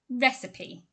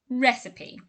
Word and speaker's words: recipe: if you're not sure let's clarify it it's pronounced recipe recipe my grandmother's sponge cake recipe is simply the